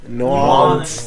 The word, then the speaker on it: New Orleans: New Orleans.